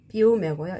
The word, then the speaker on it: fiume: 푸신푸신한 거 l'acqua del fiume 이게는 fiume고요. 이게는 fiume예요. p와 f 발음 차이가 나죠.